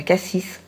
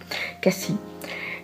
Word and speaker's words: Cassis: qui se trouve à cassis pardon peut pas dire ça vous dire qu'à si on prononce pas le s à cassis et on mange mais